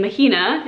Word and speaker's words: Mahina: name to see floating around the internet and mahina is how you pronounce it that is actually my middle name